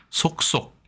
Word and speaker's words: 속속: 도금부 알아보겠습니다이 글자는 우리가 속 속이라고 하지만 실제론 속속 이렇게 발음을 하지요 부사로 자꾸 있 따라서 이런 뜻을